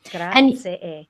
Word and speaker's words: grazie: Grazie. And you say the first one a little bit louder. You put the emphasis on that first syllable.